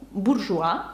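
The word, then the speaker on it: bourgeois: вони передають звук уа наприклад бужуа буж ну буржуа Я думаю це вам вже зрозуміло це слово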